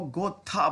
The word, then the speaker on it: Goethe: बड़ी दिक्कत आती है, बट इनको गोथा बोला जाता है, ठीक है ना। लेकिन मैं इनको गोएथ बोलूंगा, ठीक है। तो आई होप इसमें आपको कोई प्रॉब्लम नहीं होगी। एक्चुअल में इनका जो प्रोनाउंसिएशन है इनके नाम का, वो गोथा है।